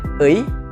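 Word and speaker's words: ы: Kemudian ada EI yang bentuknya kayak kayak B, terus ada I, jadi BI gitu. Itu dibacanya EI. Kalau orang Sunda mungkin lebih familiar karena sering gitu mereka ngomong naon atuh euy, naon si euy, jadi gampang menyebutkan euy-nya.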